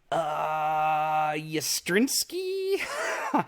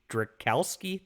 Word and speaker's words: Strychalski: post about Irene, and gosh, how do I pronounce her last name? Yastrinsky? Irene something. She's great. I actually have her book, Fiendish. Strychalski?